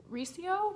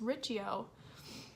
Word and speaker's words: Riccio: I've always said Riccio, but I just watched a video from Jesse the Reader where he says Riccio, and so clearly I've been in the wrong.